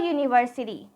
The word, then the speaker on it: university: which is a w but the sound is Y which is a consonant sound that's why we are going to put a university here a European because the sound is y a European I hope you understand